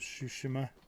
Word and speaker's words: Tsushima: I love how you pronounce Ghost of Tsushima.